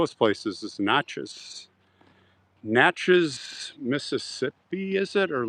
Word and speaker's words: Natchez: Natchez is in Mississippi, and it's not Natchez, it's Natchez. Got to say it right.